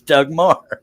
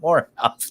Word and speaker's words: Moore: He'd say, Charles, it's Doug Moore, not Morehouse.